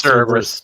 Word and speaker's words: Cerberus: Wait, how do you pronounce it? Cerberus? It's Cerberus.